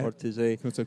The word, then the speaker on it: Ortisei: Is that right pronunciation? Ortisei, yeah. Ortisei.